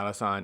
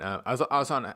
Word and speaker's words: Alhassan: name Abdul razak alassan Rak alassan y yeah alassan alassan obviously has a great chance to win the